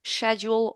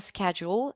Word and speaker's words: schedule: ask me, and that's whether we should pronounce schedule or schedule. And the answer is either. I mean, schedule is typically pronounced in British English, whereas Americans tend to say schedule.